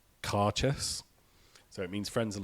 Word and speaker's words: Cairdeas: I'm told it's pronounced like caress.